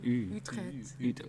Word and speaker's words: Utrecht: I'm from Utrecht, and you can pronounce the U really well. So Utrecht.